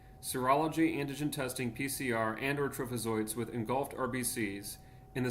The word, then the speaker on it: trophozoite: Diagnosis would be multinucleated trophozoites. I've heard of trophozoite, I guess. Trophozoite. I always pronounce it trophozoite.